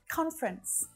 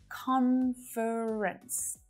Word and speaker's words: conference: this time of year conference conference so again if this word is similar in your native language you might be used to pronouncing that extra syllable in there conference the little schwa but in naturally spoken english conference is much much more common conference conference several so